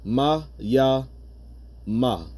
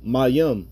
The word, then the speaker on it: Mayim: Okay, Mayim. You're never supposed to pronounce it Mayama. All right, it's Mayim. All right, and that's the Paleo Hebrew.